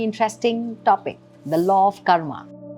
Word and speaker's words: karma: So law of karma and astrology go hand in hand. What's the word karma? Karma basically, in pure proper pronunciation, it is karm.